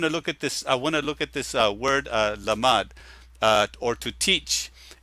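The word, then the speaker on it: למד: I want to look at this word lamad, or to teach. It's lamad. It's mem and then dalet. Lamad, mem, and dalet. The whole word is lamad, but when you spell it out, it's LMD.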